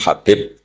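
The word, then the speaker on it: حبيب: yang nulis Abi Abdurrahman Habib assulami itu di harakatnya kitab itu ada yang nulis yang benar Oh gigih yang benar itu bacanya habib habib itu Sulami itu ikut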